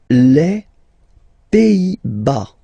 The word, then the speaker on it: Pays-Bas: Les Pays-Bas. Final S here, not pronounced. Same thing here. Pays, pays, and then bas.